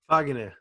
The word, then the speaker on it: Fagner: Caesar, pronounce it how y'all do in Portuguese for real. Fagner.